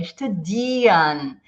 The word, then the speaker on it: studieren: É studieren. É como se esse R não existisse. A gente faz studieren. Studieren, studieren. Esse é o som correto, tá bom?